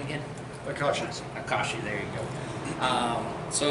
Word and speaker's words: Akashi: uh how do you say that name again akashi there you go um so if you liked